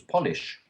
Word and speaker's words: Polish: The capitalization doesn't mean necessarily that you have to change the pronunciation, but I don't know. Okay, but you do, because now you know that it means something different from the first word, which was polish. So, polish and how do you say the second one then? Second one, the citizen of Poland, or an adjective for something from Poland, is Polish.